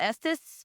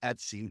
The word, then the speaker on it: Estes: We tried what is it, the Estes method or whatever? Yes. I feel like I can never I pronounce it. pronounce it wrong. I call it Etsy, like the Etsy website.